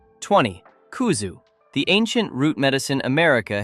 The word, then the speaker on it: Kuzu: Kuzu, pronounced kuzu, is a starchy root powder made from the kudzu vine.